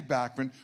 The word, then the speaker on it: Bachman: I know a lot of people, I had people challenging me when I said Bachman the first time, and I said, no, I promise.